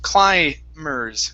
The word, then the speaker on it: climbers: the word climbers now in this word the b is silent instead of climbers it's climbers climbers climbers all right